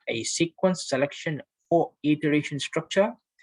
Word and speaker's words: iteration: So question number one, the correct answer is iteration. Okay. By the way, the pronunciation is iteration, IT.